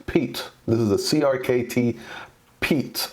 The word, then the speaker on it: Piet: the crkt Piet Piet so it is actually pronounced Pete Pete this is a crkt